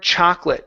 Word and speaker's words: chocolate: here is the word chocolate now here at the beginning you said it correctly the second time around you pronounce that O Okay so the O in chocolate is not pronounced the second o that